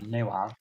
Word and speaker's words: Nuon: Yeah, just read the word Nawon backwards. No when. Now. No when. Yeah. That's what it is. That's not how you pronounce Nuon, though. Oh, it's Nawon. Nawon. It's no when backwards.